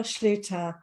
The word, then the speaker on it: Schlueter: with me today um her name is Jennifer Schluter I had practiced that because I get some